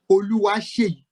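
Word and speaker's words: Oluwaseyi: So it's actually is a Nigerian name that might be a bit difficult for you to pronounce. It's actually Oluwa Seyi.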